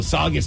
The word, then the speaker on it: Saugus: Saugus Saugus Saugus what no it's saw it's August all right cool Saugus Massachusetts there's a worker